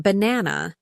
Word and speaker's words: banana: the others for example in banana the stress is on the second syllable B na na right